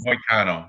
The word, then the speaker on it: Moicano: Moicano. That's a hard C.